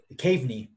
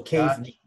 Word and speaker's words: Kaveny: Kaveny. So how you pronounce it is you have a cave in front of you. You just crawl on your knees into a small cave. So Kaveny.